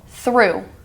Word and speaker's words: through: For example, through. The way you would think you would spell this one would be T-H-R-U, but it's T-H-R-O-U-G-H.